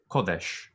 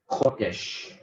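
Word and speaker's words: קֹדֶשׁ: And holiness is kodesh. Kodesh. And so you'll notice that he was holy on the far left is kadesh, and then holiness on the far right is kodesh. So the same consonants with different vowels.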